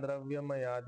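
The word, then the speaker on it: द्रव्यमयात्: आहे श्रेयान द्रव्यमयात यज्ञात ठीक आहे आपण ज च्या ऐवजी तोडतोय ना तर आपण त चा किंवा द चा उच्चारण करायचा तर द चा उच्चारण करा ते थोडं सोपं राहील द्रव्यमयात यज्ञात जान यज्ञ परंत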